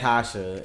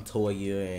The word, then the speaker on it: Tasha: kids names and people my name is Tasha and they're like people still I'm Toya and everything else though